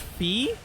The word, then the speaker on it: Phi: more useful now interesting it's pronounced fee oh yeah this is